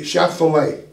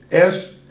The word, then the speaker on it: Shephelah: that is called the Shephelah. And you spell that S-H-E-P-H-E-L-A-H. S-H-E-P-H-E-L-A-H. Shephelah might be better, but L-A is pronounced lay. But I've heard it referred to as the Shephelah as well.